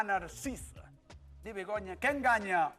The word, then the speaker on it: Narcisa: A receta é Narciso. Está ben. Sí. 50 euros. 50 euros. 50 euros. Sí. Mira, Maruja. Dime. Fíxete na pronuncia exacta, Begoña. Bacallau Verdad que sí. a Narcisa.